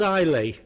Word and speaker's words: Islay: It's called Islay. Well, Isla, the Scottish people call it Isla, but Islay is spelt so he says Islay.